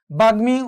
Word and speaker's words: বাগ্মী: যেমন দেখো, গয়ের সাথে মফলা বাগ্মী উচ্চারণ হয়েছে, ওর সাথে মফলা বাগমায়